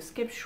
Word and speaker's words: Skeppshult: pour faire un petit focus sur la marque sketch où ça se prononce comme ça font me direz c'est une